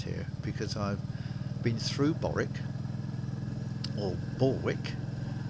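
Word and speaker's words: Borwick: because i've been through boric or baltic now i'm from the south of england and we say things that's about b-o-r-w-i-c-k or similar as boric that's how i'm not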